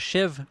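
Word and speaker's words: sheave: I had a couple of these shiv wheels broken. Yes, that's how they're pronounced.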